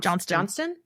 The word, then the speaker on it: Johnston: Jim Johnson. Johnston. Johnston. I have to say it correctly.